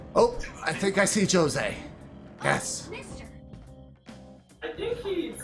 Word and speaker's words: Jose: So so I need to find chose. Huh? All right, let's open this. Isn't it pronounced Jose in the game? That's what I just said. Jose. I'm trying to pronounce it the way they pronounce it.